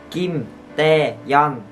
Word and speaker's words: Kim Taeyeon: Kim Taeyeon. T, trong chữ T này các bạn phải đọc bực hơi lên là T. T các bạn nhé, đọc là Kim Taeyeon.